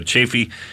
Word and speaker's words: Chafee: jeff jeff chafee uh he wrote chafee or whatever uh but that's uh he told us how to pronounce it uh chaffey he sent us this